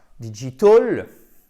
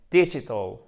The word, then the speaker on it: digital: Donc là, ce n'est pas digital, non, c'est digital. Digital. Et oui, attention, accent tonique en première position, avec un I court.